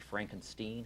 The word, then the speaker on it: Frankenstein: And I was corrected. I guess the correct pronunciation is actually Frankenstein. Have you heard that? I'm not from around here, but Steenstein. Anyway, it's a big bridge.